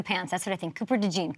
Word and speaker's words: Cooper DeJean: think Cooper de jeene Cooper de jeene but I mean you've done all this work and having to say what your name really is and pronounce it right all to go to Philadelphia where you're only going to be known as Cooper De John what is that like